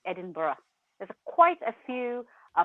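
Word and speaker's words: Edinburgh: is different so it's edinb so it's not edin Burg the way it's spelled it's Edinburough there's quite a few uh places for example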